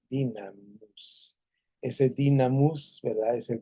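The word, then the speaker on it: δύναμις: dinamis dicen algunos o dunamis pero esa Esta que está aquí que que estoy viendo por aquí esta u parece u en griego pero realmente es la pronunciación es la i dinamus ese dinamus verdad es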